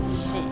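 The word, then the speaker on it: 囍: In Chinese, we can pronounce it as a "xi," but actually it's 2 happiness.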